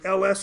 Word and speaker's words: ls: And then we would pronounce this as the ls command.